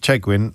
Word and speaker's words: Chegwin: Uh Andy Norris has been in touch to point out that Keith Chegwin rhymes with penguin. which is not entirely true actually, Andy, but um nonetheless, we're grateful for your contribution.